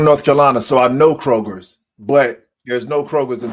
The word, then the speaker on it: Kroger: for 40 plus years it's Kroger not Kroger just one it's one but I